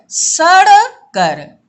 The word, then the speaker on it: सड़कर: यही कण सड़कर, ये देखो ण और ड़ में अंतर उच्चारण में, ण कण और सड़कर, सड़कर अंतर है ना बच्चों, तो दांतों को खराब कर देते हैं।